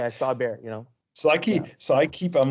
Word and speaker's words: Bexar: We'll put a link to Rod's, the Bear County Bigfoot, even though it's spelled Bexar.